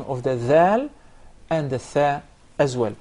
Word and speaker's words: ذ: The tip of the tongue, this specific part, the tip of the tongue, yes, with the lower edge, the lower edge of the top front incisors. This is the dhal, And it is best